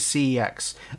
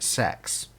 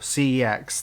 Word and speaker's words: CeX: collection doctor strange cex again and yes i pronounce it cex i am not pronouncing it sex because in people in the uk may not some people may not notice this but the old adverts for cex the guy pronounced it sex and my wife